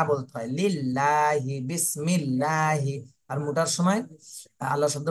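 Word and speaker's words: بِسْمِ اللّٰهِ: মিম লাম জের মিল বিসমিল লাম খাবার লা বিসমিল্লাহ লা হা জের হি বিসমিল্লাহি বিসমিল্লাহি লা ল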